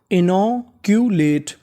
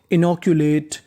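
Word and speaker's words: inoculate: मात्रा का काम करेगा और आखिरी में इ का उच्चारण नहीं करना तो पूरी meaning इनोकुलेट इनोकुलेट इनोकुलेट इनोकुलेट का मतलब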